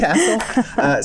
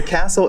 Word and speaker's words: CASEL: Yep, you said it right, CASEL. So CASEL is the Collaboration for Academic, Social, and Emotional Learning.